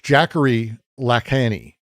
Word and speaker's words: Jacques Lacan: It's Jacques Lacan. It's weird French pronunciation.